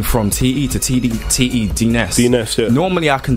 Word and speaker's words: D-Ness: And with D-Ness D-Ness is just a play on my surname.